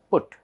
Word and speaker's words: put: But here it is pronounced as good. P-U-T, put. P-U-T, put.